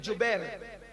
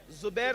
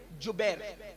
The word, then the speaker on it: جبیر: اس درے پر 50 صحابہ کو عبداللہ ابن جبیر, زبیر نہیں بلکہ جبیر, جیم سے جبیر, تھوڑا سا آج کل